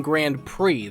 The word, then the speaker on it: Grand Prix: p1 grande PE visit no it's not P I am saying it wrong that's why it doesn't feel right basically the fight tournament building it's p1 grand prix there we go that's